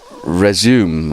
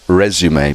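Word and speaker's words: résumé: Okay, Lord Sugar says resume, I think, or but actually he should pronounce it resume because it's a French word.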